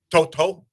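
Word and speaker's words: To'oto'o: where he said that people still say his name wrong? It's actually Toto.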